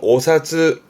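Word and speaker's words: お札: 그래서 혼자 두면 발음은 오사즈, 오사즈.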